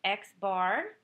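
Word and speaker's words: x̄: of various symbols, and the first symbol is pronounced X bar, which stands for the mean.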